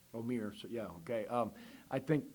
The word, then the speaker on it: Omier: wrong, but you can tell me how to pronounce 15's name. Omir.